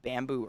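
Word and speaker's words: Bambu: But before I go, the skincare line that I use that I fucking swear by, it's called Bamboo Earth. But bamboo is spelled B-A-M-B-U.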